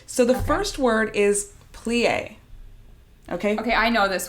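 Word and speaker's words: plié: listens she's going to correct one of my pronunciations and also my translation friend no i think plie is the correct way to say that yes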